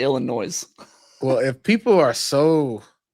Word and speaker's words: Illinois: I've gotten a note on Twitter that you need to stop pronouncing the S in Illinois. Illinois? It's not Illinois.